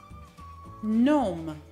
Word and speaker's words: gnome: Siamo alla lettera G, che non si pronuncia quando è seguita dalla N. Facciamo un esempio. Nat, no, gnome.